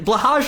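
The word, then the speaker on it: Blåhaj: if I understand correctly blahage is perfectly acceptable it's the Americanization but yeah it is originally Swedish and blhigh or blahhai I don't know the first vowel I knew the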